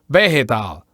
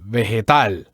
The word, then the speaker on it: vegetal: In Spanish, you have to do it in the last syllable. So don't say vegetal, say vegetal.